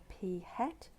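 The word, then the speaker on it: p̂: in the term of p hat so this little symbol here you pronounce p hat and our population proportion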